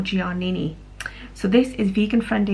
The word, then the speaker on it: Giannini: this is by umberto giannini i think i've pronounced that right i used to call them a bird or gianni but i believe it's on bird or giannini so this is vegan